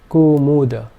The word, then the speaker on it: kumuda: Kumuda. And finally, this would be pronounced kumuda. All three vowel sounds being short.